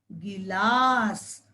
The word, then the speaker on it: गिलास: ठीक है बच्चों, यहाँ पर हमने बिल्कुल भी लंबा नहीं बनाया, क्योंकि यहाँ पर ह्रस्व स्वर ई की मात्रा है बच्चों। ठीक है, तो इसलिए इसका उच्चारण गी ला स, गिलास।